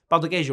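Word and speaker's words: pão de queijo: cheese bread right and they call it yeah powder cage but then if i say it wrong sometimes i say bao and then it sounds like i'm saying another word which is apparently like for like ass or a butt and i didn't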